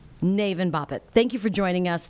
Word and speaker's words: Navin Bapat: UNC Chapel Hill professor Navin Bapat, I believe. Correct me with the pronunciation, Professor. Yes, it's Navin Bapat. Navin Bapat.